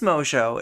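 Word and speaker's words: Mongeau: I mean, It is Mojo.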